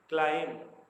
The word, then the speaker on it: climb: CLIMB, क्लाइम, यहाँ पर B silent है।